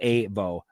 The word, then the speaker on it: AVO: It's spelled AVO, pronounced AVO.